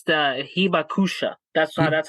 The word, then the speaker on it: hibakusha: I believe if I'm correct in saying it, it's a hibaku. Oh, my bad. It's the hibakusha. That's that's how you pronounce it.